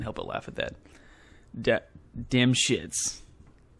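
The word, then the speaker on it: Dymshits: sorry I can't help but laugh at that damn shits it's spelled d-y-m-s-h-i-t-s damn shits anyways careful reading of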